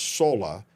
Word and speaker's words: Sora: It's called SORA, but it's pronounced SORA because SORA is the way you would say it in Japanese. It is based on the word for sky. SORA means sky or heaven.